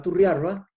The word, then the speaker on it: Turrialba: porque se sabe que turrialba se pronunciaba turri arba y la recoge muy